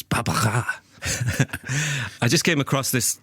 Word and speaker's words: Barbara: And I said this was by Barbara, but James's mother-in-law, who is French, corrected me and said it's Barbara.